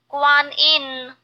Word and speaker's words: Guanyin: Guanyin. Guanyin. Guanyin. And another way someone pronounces it is Quanyin.